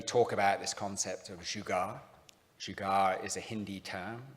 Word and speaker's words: jugaad: Some of you have heard me talk about this concept of jugaad. Jugaad is a Hindi term. It's spelled J-U-G-A-A-D.